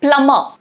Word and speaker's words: plumber: Yeah, so B is silent in plumber, but if you're comfortable saying it as plumber, go ahead, who cares, it's all right.